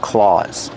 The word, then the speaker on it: claws: Eagles have claws. Pronunciation, aw. Make the aw sound like ball and call, claws.